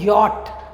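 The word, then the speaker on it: Jot: ഐക്ക് ഈ എന്നാണ് പറയുക ജെക്ക് നമ്മൾ ജെ എന്ന് പറയില്ല അത് ഉച്ചരിക്കില്ല അതിനുപകരം നമ്മൾ പറയുന്നത് യോട്ട് യോട്ട് എന്നാണ് പക്ഷേ വാക്കുകൾ എഴുതുമ്പോൾ യോട്ട്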